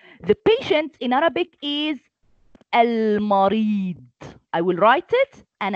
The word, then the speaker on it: المريض: And last, al-marid. It's dad. It's dot. It looks like sod, but with one dot up.